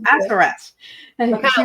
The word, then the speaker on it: Assaraf: What an energizing, and insightful tea time this has been with at Assaraf. Am I saying it right? No, Assaraf.